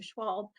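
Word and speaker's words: Schwalbe: Will Schwalb, I want to say his name correctly, Schwalb, wrote The End of Your Life book club, which still has stuck with me after all of these years.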